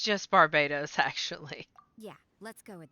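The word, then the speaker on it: Barbatos: Wait, was it Bartobus or was it Barsabedo? I feel like I said it wrong again. It's just Barbados, actually.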